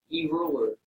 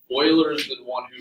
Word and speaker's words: Euler: naturally in nature sometimes Euler this name is pronounced boiler not user Euler Euler discovered this he was actually brilliant first names